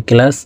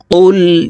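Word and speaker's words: قُلْ: যাবে কফ লাম পেশ কুল প্রিয় দর্শক কফ হরফের উচ্চারণ জিহ্বার গোড়া তার বরাবর উপরের তালের সঙ্গে লাগাইয়া উচ্চারণ করে পড়বো কফ লাম পেশ কুল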